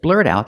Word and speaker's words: blurt out: can use the phrasal verb blurred out just blurt out that Emily's pregnant and having your baby it's